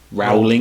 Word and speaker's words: Rowling: how it's spelled yeah but I think it's the W is silent and everyone keeps this